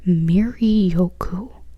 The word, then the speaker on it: Miryoku: Oh, and it says down here, it's pronounced Miryoku, which it's pretty much what I said.